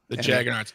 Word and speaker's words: Jaggernauts: The Jaggernauts. Not astronauts, but like Mick Jagger.